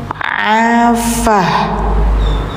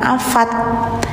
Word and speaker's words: afah: Jadi bacanya afah gitu, bukan afat ya.